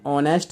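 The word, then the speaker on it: honest: तो यहाँ पे हम जब इसको स्टोरी को बनाएंगे तो क्या हो जाएगा, एन ऑनेस्ट मैन, ठीक है। ऑनेस्ट में किसका प्रोनाउंसिएशन है, बॉबिल का, इसलिए ए नहीं आएगा, क्या आएगा, एन आएगा।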